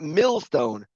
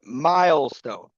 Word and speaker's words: milestone: So it is pronounced not millstone, but milestone.